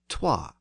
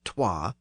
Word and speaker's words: twa: The next number in English is 2, derived from the Old English word toi, usually spelled T-W-A. So the W was actually pronounced in Old English, and that's why the